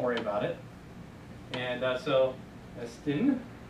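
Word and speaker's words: ἐστίν: And so, esten, there's our accent that says, let's put an emphasis on the last syllable, esten.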